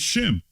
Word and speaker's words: Shem: It's not Sem, it's Shem. Okay. All right. Greeks don't have the sh sound, right? Okay. So quite naturally, they wouldn't pronounce it Shem, right? They would pronounce it Sem. So when you say Semite, Semitic, right? It's the same thing. It's just a Hellenized variation of the word Shem, right?